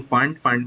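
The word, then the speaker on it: Pfund: Bracket, 5 होगा तो फंड में p इज साइलेंट, एंड अगर n1 का वैल्यू 6 होता है this will be called Humphrey series.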